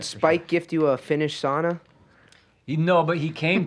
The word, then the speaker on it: sauna: to use oh yes sauna you pronounce it sauna burned out the same way you you own one and so so here's